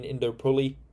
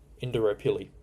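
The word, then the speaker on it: Indooroopilly: pouring in Induli. I butchered that pronunciation.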